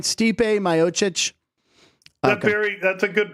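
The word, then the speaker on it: Stipe Miocic: steep are we saying his written name right Stipe mochic very that's a good pronunciation I wouldn't have thought that in a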